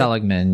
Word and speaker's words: Seligman: That is Emma Seligman, I believe is how you pronounce her Ella last name. Seligman, yes.